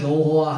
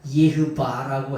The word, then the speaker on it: 여호와: 우리가 여호와 하나님, 우리가 믿는 하나님을 여호와라고 하잖아. 그건 독일 발음. 우리가 말하는 진짜 예흐바라고 해야 그게 무슨 발음이냐? 히브리 발음이에요.